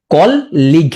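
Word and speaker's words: colleague: কল লিগ, হ্যাঁ কল লিগ, কল লিগ, কল লিগ উচ্চারণ এমন করবা কল লিগ, তাহলে ভুল হবে না, কল লিগ।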